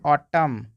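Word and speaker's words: autumn: एन के ठीक पहले अगर एम आ जाए तो वहां पे एन साइलेंट हो जाएगा जैसे कि हम लोग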